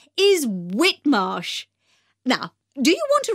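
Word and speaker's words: Whitmarsh: us outside the shop the shop's name is whitmosh now do you want to write that down i'll spell it for you that's w h i t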